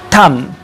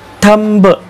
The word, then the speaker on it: thumb: आता याच्यामध्ये काय होतं की बी हा लेटर परत आहे, सो आपल्याला असं वाटण्याची शक्यता आहे की याचा उच्चार थंब असा होतो, पण नाही, याचा उच्चार होतो थंब.